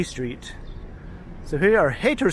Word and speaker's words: Hayter: so here we are hater street although it is spelled with y but it's still pronounced the same way and it is literally